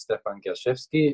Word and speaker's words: Stephan Gerschewski: So my name is Stephan Gerschewski. You did it very well. Your pronunciation, very good.